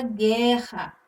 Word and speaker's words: guerra: Aqui no G, U, E, onde nós temos a sílaba gué, onde o fonema, a letra U, fica meio que escondido ali. E nós temos o dígrafo em Rá, onde os dois R's exercem o som de apenas um.